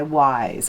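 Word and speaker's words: Wyse: So number one is called Take It Off by Wise. And by the way, that is spelled Y-S-E. I've really been getting that whole thing wrong.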